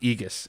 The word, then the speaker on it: Aegis: I guess aigis it's but it's pronounced Aegis it's a e/g is